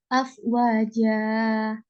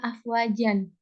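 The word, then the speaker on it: أفواجا: Afwaja. Jadi eh, karena pada karena akhir kata ada wakaf, jadi kita bacanya afwaja, bukan afwajan.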